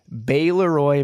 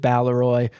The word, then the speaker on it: Baleroy: So, this episode is about the Beroy mansion. And in the intro, I pronounced it Baloy incorrectly, even though I had just looked it up 2 minutes before.